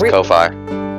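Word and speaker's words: Ko-fi: dollars no Kofi Nick yes Kofi that's how that's how it's said and written yes yeah do you say like coffee some people think so why do you believe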